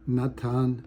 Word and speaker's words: Natan: Natan how do you say your first name Natan n-a-t-a-n and that's